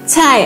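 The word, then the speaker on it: 菜: Nah, ini bacanya chai, artinya sayur.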